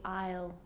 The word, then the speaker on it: aisle: debris and i'll the bride walk down the aisle so an s can be a little bit